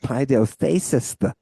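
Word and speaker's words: παιδευθείς: Not at not every sixth Yeah, how do you pronounce that? paideustheis Yeah. Yeah, paideustheis Yeah.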